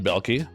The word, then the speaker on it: Belkie: Today I am honored and privileged to have with me Dan Dan Belki. Um, I got the pronunciation correct.